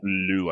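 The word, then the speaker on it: Lugh: Lug, L-U-G-H. Pronounced Lou, I believe.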